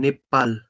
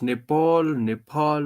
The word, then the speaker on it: Nepal: I'm from Nepal. like uh like some people pronounce Nepal, but it's like Nepal.